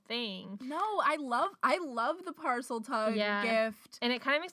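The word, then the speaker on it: Parseltongue: I want to talk about parcel tongue, or is that how you say it? Parcel tongue, yeah.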